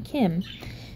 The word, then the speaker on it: Kim: So you have the Kim, not Kin, Kim.